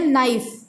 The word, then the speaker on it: knife: Here knife. Okay, knife, K is silent.